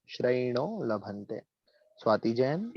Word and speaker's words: श्रयणो: श्रयणो, इस पे ध्यान देना। श्रयणो, हाँ, श्रयणो लभन्ते।